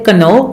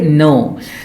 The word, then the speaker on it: know: letters on the title it has a K in the beginning but we do not pronounce the k we start the start pronouncing the word with n so we do not say Kano we say no know